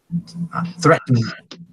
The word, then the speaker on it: threatened: Threatened. Threatened. Threaten, Nope. Threatened. threaten, The- Threatened. threaten. Threaten. Threaten. It's got a weird pronunciation. It's two syllables.